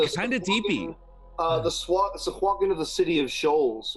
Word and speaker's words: sahuagin: The Sahuagin of the city of Shoals would work. Oh. Is that how you pronounce it?